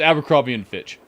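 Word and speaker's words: Abercrombie & Fitch: Or Finch, whatever it was. Oh, it's Abercrombie and Fitch. Multiple hostile spy planes detected. I said it right.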